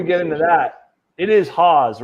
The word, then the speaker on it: HAAWWS: know it's pronounced um it's pronounced like h-a-z I've heard people even